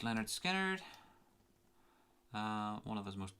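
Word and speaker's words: Lynyrd Skynyrd: one of the last tracks from the debut pronounced leonard skynyrd uh one of those most one of the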